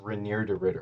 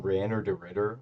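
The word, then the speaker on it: Reinier de Ridder: I think it's pronounced Reneer Derritter. I've been saying Ranner Derritter for like hella long against Brendan Allen.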